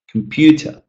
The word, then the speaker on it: computer: So again, computer, computer, computer, the pitch is quite low. But when I say pew, it sort of raises, right? So computer, the pitch is usually higher in a stressed syllable.